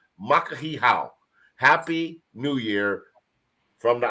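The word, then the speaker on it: Makahiki Hou: k a h i ho o u somebody spell that out M A and that's makah he how makahi how happy New Year from the islands and then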